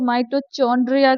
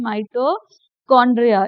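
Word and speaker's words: mitochondria: कई बार बच्चे इसको माइटोचकंड्रिया कह देते हैं। वो गलत है बेटा। इसको हमें क्या कहना है? माइटोकांड्रिया इसका जो एच है वो साइलेंट है।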